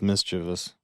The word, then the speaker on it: mischievous: Well, I don't even know why I add extra syllables in there. It's mischievous.